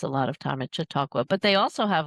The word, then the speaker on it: Chautauqua: Yes, Chautauqua? Chautauqua, yeah.